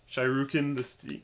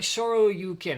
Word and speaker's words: Shoryuken: Yeah, it's more like Shoryuken, and it's probably we're going to be.